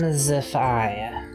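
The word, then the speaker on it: Whimsiphai: lore says whimsy whims whimsify that's how it's pronounced but it's spelled w-h-i-m-s-i-p-h-a-i whimsify well well cool i didn't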